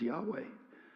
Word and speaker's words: Yahweh: So they have traditionally referred to the great mystery as YHWH, often pronounced as Yahweh, which is simply translated, I am.